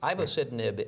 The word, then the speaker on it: ivosidenib: This is a drug, ivosidenib, if I'm saying it correctly.